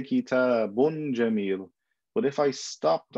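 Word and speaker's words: كِتَابٌ: So if I say kitabun, I don't put kaf. ta, alif, ba, noon. La. I just pronounce it as a noon. I say kitabun.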